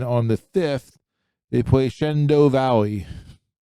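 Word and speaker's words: Shenandoah: Next week on the 4th they play northwest area and then on the 5th they play Shendo Valley. Shendo that's how you say that. Shendo Shannondoa say Shendo.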